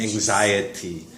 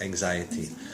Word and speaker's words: anxiety: Anxious and then anxiety. Whether it's adjective or noun, the pronunciation changes. Anxious, anxiety.